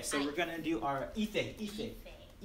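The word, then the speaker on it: ìfẹ́: Okay, so we're gonna do our ife. Two syllables. Ife.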